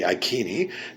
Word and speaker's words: Iceni: norfolk england where the icini tribe or the ikini if you want to pronounce the c as a k like in kelt and salt were and